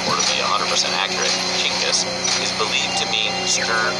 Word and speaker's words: Chinggis: While most Westerners say Genghis with a hard G, that's incorrect. In Mongolia, the G is soft, so it's actually pronounced like this, Chinggis.